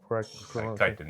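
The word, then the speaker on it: chitin: Kitan kitan. Yeah, kite. Yeah, it's spelled chitten but it's kitan.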